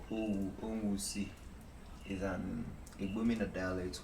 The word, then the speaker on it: Owu: For the Owu waterfall, is it pronounced Owu or which one? Owu.